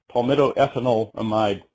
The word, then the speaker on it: palmitoethanolamide: And another ingredient is a long one, palmitoethanolamide, or amide, depending on how you say it.